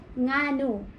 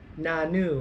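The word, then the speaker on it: ngano: Nganu. Nanu. That was different. That was different. Yeah, nganu. Nanu. That's not good. Nganu. Nanu. Yes. NG. It's like the NG.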